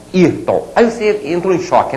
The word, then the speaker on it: Ayrton: Então, qual é a sílaba tônica da palavra Ayrton? É essa aqui, né? Ayrton.